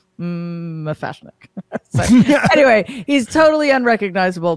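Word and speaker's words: M'Fashnik: And Dawn, Buffy's sister, says to Giles, he says, "Is it pronounced like cookie?" And he just says, "No, it's just Mafashnik."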